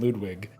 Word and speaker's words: Ludvig: I actually just had a conversation with the guys behind the uh Edvard and Ludvig, although you're supposed to pronounce that as if they were W. So Edward and Ludwig uh Game Design Archive, if you look that that up, Game Design Archive.